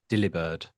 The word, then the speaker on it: Delibird: It's Delibird, as in the proverbial term of delivered.